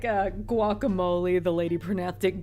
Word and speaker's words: guacamole: names and it's so funny like like a guacamole the lady pronastic gakimolo and instead of Taco they say taco it's